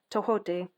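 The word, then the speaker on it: Tehuti: light initiation great teacher Awakening Divine magic tahote pronounced tohote also known as tohoti is the ancient Egyptian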